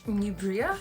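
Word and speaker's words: Neubria: The brand is Nubria, but it's spelled like N-E-U.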